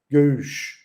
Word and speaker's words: Göğüş: So to say it, the pronunciation is Göğüş. That's difficult. I think it's much more easier for French people, because they like to use their throat, so it's just like that Göğüş with the throat, it comes out.